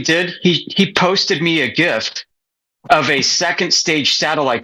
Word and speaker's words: GIF: Did you just call it a gift? A gift. And it was a gift, but it was a gift. Yeah, hard G.